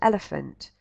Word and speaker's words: elephant: they don't yet know the digraph PH and that it's pronounced f. Yet they still seem able to read this word, which is, quite a complex word, elephant.